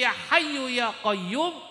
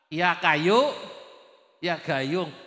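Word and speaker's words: يا حي يا قيوم: Bacanya mboten fasih, mestine ya Hayyu ya Qayyum, bacanya apa? Ya Kayu, ya Gayung.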